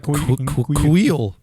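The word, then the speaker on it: Kuiil: It's like Kuhil almost, right? Kuhil.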